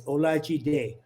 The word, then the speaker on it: Olajide: I never thought of it before he went, it's Olajide, Olajide, Olajide, Olajide.